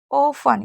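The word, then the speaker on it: often: ऑफन, इसे ऑफ्टन नहीं पढ़ना क्योंकि TEN होता है तो टी साइलेंट रहता है, इसलिए इसे ऑफन पढ़ेंगे।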